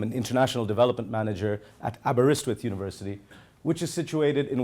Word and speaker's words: Aberystwyth: let's try it okay you break it into three separate pieces and it's much easier so it's a burr wrist with now put the three